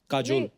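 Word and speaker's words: Kajol: काजल है ना, but काजल होता है, काजोल हाँ, but मतलब बंगाली में spelling है, काजल। बंगाली में ऐसे बंगाली में लिखते हैं। ऐसे उसका प्रोनाउंसिएशन ऐसा पर बड़ा अच्छा लगता है काजोल।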